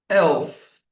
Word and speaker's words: elf: 11 is elf, right? So like you are saying L and F.